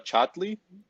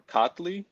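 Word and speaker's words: Çatlı: I don't know how that C in Turkish is supposed to be pronounced, but Abdullah Chatli or Katli, Yeah.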